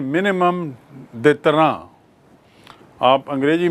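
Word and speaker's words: détente: अंग्रेजी में न्यूनतम अवरोध को कहते हैं मिनिमम देतरा आप अंग्रेजी में इसकी स्पेलिंग देखेंगे। यह एक फ्रेंच शब्द है। इसलिए इसका उच्चारण है दैतरा to achieve position of minimum दैत्रा।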